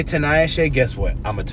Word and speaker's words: Tinayeshe: It's 4 syllables. Kennedy is 3. Tinayeshe is 4. It's just 1 extra syllable.